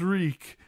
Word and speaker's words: Reek: My name is Reek. It rhymes with leak.